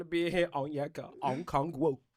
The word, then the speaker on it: Onyeka Okongwu: I ain't want to be in here on Onyeka Okongwu. Did I say it right? Onyeka Okongwu. Okongwu. There we go.